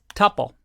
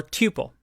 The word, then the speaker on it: tuple: And this one is called a tuple or tuple, depending on how you like to pronounce it.